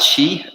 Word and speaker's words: qi: good slightly the cheat when we talk about Chi in the pinyin is spelt Qi right tingling little warm correct